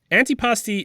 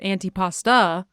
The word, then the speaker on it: antipasti: Because people al like frequently call it antipasta. Oh, well, they're wrong. It's not. It's It's not antipasta.